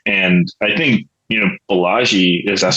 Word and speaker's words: Balaji: the Fiat world and I think you know Balaji is that how you say his name right